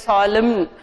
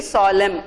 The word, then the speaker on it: solemn: Now in this word, this N is silent always. You should not say it as solemn. It is only solemn.